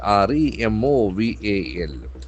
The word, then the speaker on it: removal: She's discharged from hospital in Kochi after removal, R-E-M-O-V-A-L.